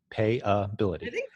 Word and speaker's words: Payability: of you who have never heard it before it's spelled PA Y a and then bility B il ity correct pay bility go dot pay ability dot-com slash Jim for